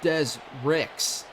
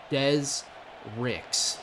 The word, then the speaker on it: Dez Ricks: Number 12, Dez Ricks. Yes, that is his first and last name. Dez Ricks, not Dez Rick.